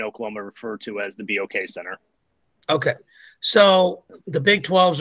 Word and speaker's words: BOK Center: we call it the Box Center? Let's start with that. Formally, it's the BOK Center. So what BOK stands for is the Bank of Oklahoma. So it is the BOK Center.